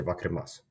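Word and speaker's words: わかります: Now, if there's a word that ends with a u, they don't pronounce it. Okay. See? So it's like wakarimasu or something like this. Wakarimasu. They say wakarimasu. Even though there's a u at the end of it, I'm pretty sure.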